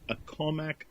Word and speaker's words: Accomack: Accomack could County? Be. Yeah, Nope. Go ahead. No, I think it's Accomack, Accomack. Right. Accomack. Right. That's the way I would have pronounced it.